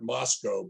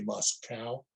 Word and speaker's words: Moscow: and by the way we call it Moscow because during the Cold War residents were very careful to not say muscal so it's Moscow Idaho I realize I mispronounced